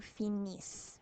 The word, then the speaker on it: finissent: Nous finissons, vous finissez, il et elle finissent. Remember, not pronouncing the ENT, so you just pronounce the S's. Finissent.